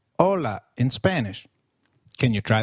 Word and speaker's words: hola: Hi is called hola in Spanish. Can you try that, please? Hola. Did you get that right? hola. Remember, H is always silent in Spanish. We do not pronounce it.